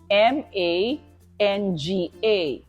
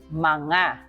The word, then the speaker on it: mga: plural marker which is manga manga so um sounds like m a n g a manga manga so NG is Nang okay m g a is manga okay let's add the